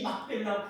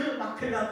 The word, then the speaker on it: 막펠라: 원래 이 발음은 막펠라인데 그 말의 뜻이 아주 중요합니다. 그럼 이 막펠라는 그렇게 값주고 사려고 했던 그 막펠라 동굴, 이 막펠라는 무슨 뜻이냐?